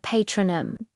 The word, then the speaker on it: Patronum: Now for patronum, the A sound is like the A in father patronum. Notice the stress is on the second syllable tro. It's given a bit more force and length.